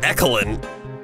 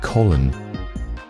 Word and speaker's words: Colin: Your name isn't Ecolin. Ecoline? No, it's Colin.